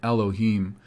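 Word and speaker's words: אֱלֹהִים: used in the bible alaim which in masoretic hebrew they pronounce it elohim this is a general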